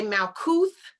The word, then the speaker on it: Malkuth: go Malkuth, okay, and you can say Malkuth with a TH or a T. It's spelled both ways.